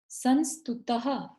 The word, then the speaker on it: संस्तुतः: यह विसर्ग है यहाँ पर, तो ह की ध्वनि आनी चाहिए। यह संस्तुतः सकल वांग्मय तत्वबोधा।